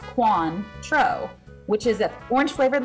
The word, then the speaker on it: Cointreau: all tequila is essential followed by cointreau pronounced quan tro which is a orange